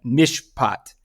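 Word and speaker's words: mishpat: or anything else um it's uh Mish poot and it's spelled m h p a t and it means a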